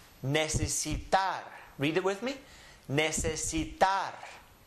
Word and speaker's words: necesitar: Just follow the syllables. Ne, se, si, tar. Necesitar.